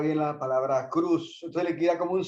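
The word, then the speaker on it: Kroos: escribe kr o s y se lo escuché pronunciar a un locutor alemán y él lo pronuncia lo pronunciaba Cruz entonces es posible que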